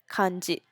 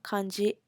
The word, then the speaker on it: kanji: major writing systems which are called hiragana Katakana kanji hiragana and Katakana are basically um called the Kana system is the pronunciations of the words so if you wanted